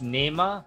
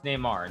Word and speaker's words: Neymar: on ac milan uh pronunciation it's nema no it's neymar neymar or no it's